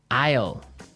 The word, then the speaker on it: isle: spelled so strangely right we don't pronounce the S the S is silent that's true ale so